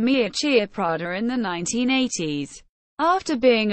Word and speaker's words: Miuccia Prada: Miuccia Prada, Italian pronunciation, Miuccia Prada.